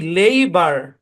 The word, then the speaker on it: labour: এমন ভাবে কাটেন যাতে কাটার পরে কনসোনেন্ট থাকে। তাহলে কি লেইবার, কি উচ্চারণ, লেইবার।